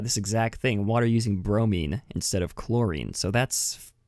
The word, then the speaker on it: bromine: Is that how it's pronounced? Bromine? Bromine? It's bromine. Bromine. Some people say it differently.